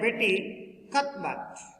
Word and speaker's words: Cuthbert: Betty Cuthbert, it means pronounced as a Betty Cuthbert.